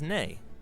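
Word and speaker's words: nei: hello in Icelandic is pronounced Hollow thank you is talk yes is yeah no is nay goodbye is bless bless 14.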